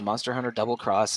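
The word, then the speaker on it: Monster Hunter XX: MHXX is pronounced Monster Hunter Double Cross, and I think that's amusing.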